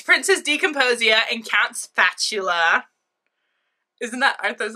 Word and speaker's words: Spatula: I mean intercom special it's pronounced spatula this charming go-getter chef